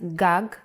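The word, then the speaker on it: גג: There is no vowel sound. In Hebrew, the vowels are often not written. You would know that this word is pronounced gag because it has been taught to you before.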